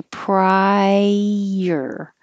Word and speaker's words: prior: and rotation ladder splurge prior it's like two syllables because you're going up very high prior prior if it's priority